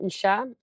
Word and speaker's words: Aoise: Um, my name Isa. Um, even though it's it's the pronunciation is h a. It's actually spelled in an Irish way, which is a o e.